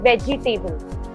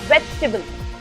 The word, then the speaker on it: vegetable: So when we read vegetable, we also end up saying vegetable. In reality, it's vegetable. There's no table. It's tibble. T-I-B-L-E.